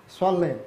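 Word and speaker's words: صلّ: Swalli with swad, okay.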